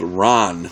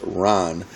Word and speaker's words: Ran: years Masterpiece it's called Ron looks like ran but it's pronounced Ron this one is is